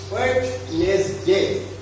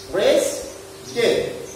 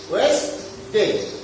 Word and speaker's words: Wednesday: এটা দেখো তোমরা কারো কেউ বলে থাকো ওয়েডনেসডে। এটা বললেও ভুল হবে না, কিন্তু সঠিকটা দেখো ওয়েস্টডে। এই ডিটা আমাদের উচ্চারণে আসছে না। আমার সাথে তোমরা বলো, আমি আবার বলি, দেখো ওয়েস্টডে। ক্লিয়ার? That is Wednesday.